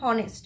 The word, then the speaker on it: honest: honest we don't say honest we say honest h is silent when we tell knee